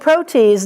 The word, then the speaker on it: protease: It looks like protease, doesn't it? It's protease.